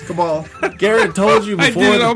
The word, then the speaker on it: Cabal: Mortal Kombat 11's roster expands as Kabul. You're supposed to say it right. It's Cabal.